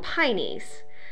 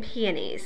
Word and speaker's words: peonies: You know, it's all about where you live, how you pronounce that. People here in southern Indiana call them pineys, but to me it's always been peonies.